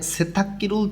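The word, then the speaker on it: 세탁기: নিচে আছে এখানে সেথাক্কিরুল থল্লিদা, সেথাক্কি গয় গ, এখানে দুইটাই কয় ক উচ্চারণ হবে।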